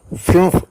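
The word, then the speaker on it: fünf: അതുപോലെ യു ഉമലോട്ടിനെ എഫ് യു ഉമലോട്ട് എൻ എഫ് ഫിംഫ് എന്നാണ് അഞ്ച് എന്നുള്ളതിന് ഇങ്ങനെയാണ് ഉച്ചാരണം have studied the pronunciation of some letters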